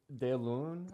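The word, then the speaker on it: deloun: Okay, Delun, I believe is how it's pronounced.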